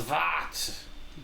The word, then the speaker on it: Vart: We call ourselves Vart. Varts. V. That's it. Yes, Vart. Fart. With a silent X in the front.